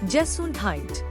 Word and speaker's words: Gesundheit: That is a funny sounding word which is pronounced Gesundheit.